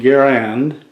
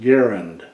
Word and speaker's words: Garand: you the M1 as known as the M1 Garand uh it is actually pronounced Garen the M1 Garen that is how John candas